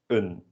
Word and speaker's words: een: The indefinite article, un. So repeat that for me, un. You might notice that this is spelled the same way as the number 1, which is pronounced as één, and they are pronounced differently.